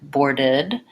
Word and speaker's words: boarded: the most difficult part going slow enough to get that back tight tongue or or then when you can say that add the B for four then add your D board board and then when you can say that boarded boarded and lastly board it up